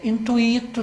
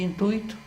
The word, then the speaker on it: intuito: tem que falar circo circuíto também é intuíto também né verde intuito não é ter um pouco de